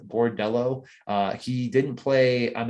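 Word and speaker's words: Bordeleau: debut for bertillo who was from michigan um spelled with like an l-e-a-u at the end bordello uh he didn't play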